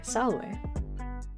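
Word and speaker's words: salve: Saying salv with a W is classical pronunciation. Oh, okay. Saloway.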